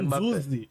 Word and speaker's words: Nzuzi: No por caso exemplo, meu nome é Nzuzi. O N já não é mais nasal, agora é na boca. Assim.